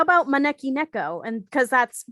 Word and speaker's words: Maneki Neko: How about Maneki Neko? And because that's how you pronounce it in Japanese.